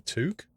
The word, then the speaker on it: toque: According to Google, you got it right the first time. What, as in... So which is it then? Pronounced T-O-U-K from Google. What does that mean? Giddy. As a Canadian, you got it right the last time.